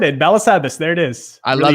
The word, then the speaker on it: Balasabas: Balasabas. There it is. I love it. So it's Balasabas. So it's more of the ah sound at the end.